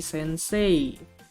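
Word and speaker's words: 先生: benar itu relatif tapi cara bacanya orang Jepang itu bukan Sensei tapi Sensei sense essense Sensei aanya panjang ya Sensei bukan Sensei walaupun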